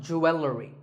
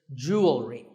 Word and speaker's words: jewelry: It's not jewelry and it's not jewelry. It's jewelry.